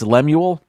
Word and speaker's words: Lemuel: It's like Samuel, but it's Lemuel.